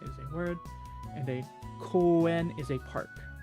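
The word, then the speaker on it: 声: Like uta goe. Be pronounced koe. Koe by itself, voice.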